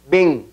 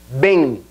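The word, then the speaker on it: bem: repita obligad muy bien la palabra bien nasal es a e y la m casi que se pierde sería B repitan Ven y por último la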